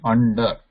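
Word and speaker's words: अण्ड: This na is a nasal plus it is cerebral or a retroflex. It is not pure nasal.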